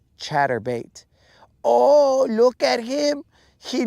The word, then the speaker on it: chatterbait: Actually, it should be more like, oh, where's your little shatterbait? And I'd be like, you mispronounced it, bro. It's chatterbait.